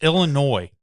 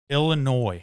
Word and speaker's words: Illinois: It's Illinois. Illinois. Illinois's. It's an S, bro. I know it's an S, but the S is silent.